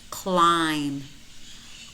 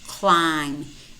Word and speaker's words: climb: Bom Bom comb comb climb climb notice how many of these words we have em B clusters and in these words normally the B is silent we only pronounce that